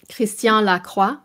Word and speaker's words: Christian Lacroix: How do you pronounce this? Christian Lacroix? Christian Lacroix.